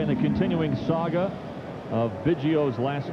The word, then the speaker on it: Biggio: around the country said, "No, Craig, it's Biggio." Well, Craig said, "All right, make it easier for everybody." His mom said, "No, it's Biggio." So we'll go with Biggio.